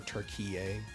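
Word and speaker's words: Türkiye: Which is so funny because, like, I've done so much research on Turkey, or Turkiye, as it's actually pronounced, because of...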